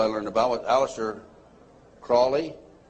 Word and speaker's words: Crowley: learned about with Alistair Crawley he likes to be have his name pronounced Crowley to rhyme with holy and the satanists today